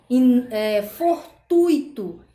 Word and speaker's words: fortuito: ah e não louis ou seja a gente deve pronunciar gratuito fortuito e fluido porque o assento a